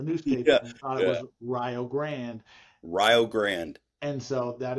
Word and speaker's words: Rio Grande: picture of Rio Grand Ohio and it's not pronounced Rio Grande. Okay. Because a bunch of white folks saw it in the newspaper and thought it was Rio Grand.